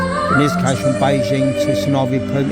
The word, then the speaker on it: Suvarnabhumi: You can fly from Beijing to Bangkok main airport, which is called Suvarnabhumi, as it's pronounced, directly cheaper than you can flying into the lower ranked airport.